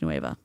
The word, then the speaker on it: Nueva: Good job, Noea or Noev, whatever Margie said. I know it's noa.